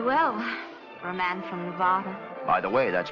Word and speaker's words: Nevada: for a man from Nevada by the way that's pronounced Nevada I notice you give it the broad ah I prefer it to a dreadful flat a only the Dreadful flat